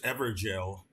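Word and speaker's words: Evergaol: anyway yes I found this ever gel and it is jail that's how you really pronounce it I just this is just that's just another way of writing jail it's some weird old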